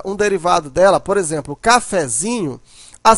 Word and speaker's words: cafezinho: Mas no cafezinho, a sílaba mais forte é o zin.